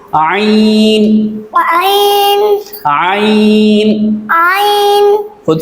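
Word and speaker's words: ع: तो आइन का मखरज भी हा वाला है, यानी इसको हल्क के दरमियान वाले हिस्से से अदा किया जाता है। इसकी मशक कर लेते हैं। आइन, आइन, आइन।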